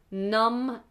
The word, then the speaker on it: numb: and do you pronounce numb and how do you pronounce numb and dumb if um both of them have a silent B at the end if you can't feel